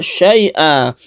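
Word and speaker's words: شيئا: Tanwin fathahnya di sini kalau berhenti itu disebut mad iwad. Iwad artinya ganti. Maksudnya adalah tanwin ini sudah diganti menjadi mad sehingga membacanya bukan an tapi a yang dipanjangkan 1 alif.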